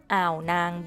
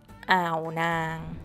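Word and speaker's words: อ่าวนาง: Lay, Rai Lay, and Ao Nang Beach, Ao Nang. This has a total of two syllables, so don't break it down more than that.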